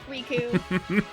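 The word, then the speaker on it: Riku: Raichu right no they they properly pronounce reiku within the game so it's rku oh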